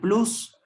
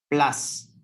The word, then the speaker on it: plus: vaya al extremo más le solemos decir plus pero en realidad en inglés se pronuncia plas sí pero entonces el